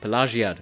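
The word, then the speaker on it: Pelagiad: along the road past pagad yes that is how it's pronounced I had to ch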